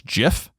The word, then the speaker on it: GIF: a CH and I'm like did call it gif it is an acronym you can't just make